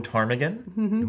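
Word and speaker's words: ptarmigan: the will of tarmigan willow tarmigan spelled with a pea and they're stupid you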